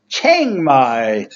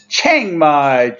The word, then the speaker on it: Chiang Mai: corrected by a fan it's Chiang Mai to to imitate the Thai the correct type pronunciation Chiang Mai Thailand set sunny to